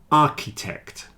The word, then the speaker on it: architect: stomach ache stomach ache architect and chemist they have a CH which is pronounced like a k stomach a stomach a